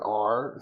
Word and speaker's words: Are: So I was like, A-R-E means R, so you pronounce it R, so for sure.